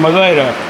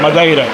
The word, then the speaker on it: Madeira: Not Madeira. Madeira. Madeira. Madeira. Okay, I was always saying it wrong this entire time. That's the way they say in South Africa, is Madeira.